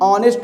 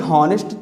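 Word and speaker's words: honest: इसी तरीके से एन ऑनेस्ट मैन, यहाँ पर देखिए हॉनेस्ट तो इसको पढ़ते नहीं, इसको हम पढ़ते हैं ऑनेस्ट, तो अ यानी जब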